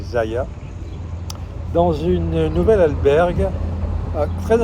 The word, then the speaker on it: Zalla: Alors ça s'écrit Zala, mais en espagnol on dit Zaya.